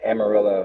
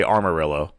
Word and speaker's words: Amarillo: yeah, Amarillo. Amarillo. I used to say Armarillo, and people would always correct me. Yeah, it's So Amarillo. There's yeah, no R after the A.